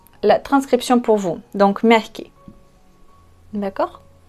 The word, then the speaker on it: мягкий: Donc, merki. D'accord? L'accent, on met sur la première. Merki, syllabe.